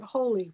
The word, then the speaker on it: Holi: And it's during the celebration of, you pronounce it Holi, right? Holi?